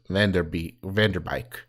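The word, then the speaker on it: Van Der Beek: It's not Beek, it's Vanderbeek.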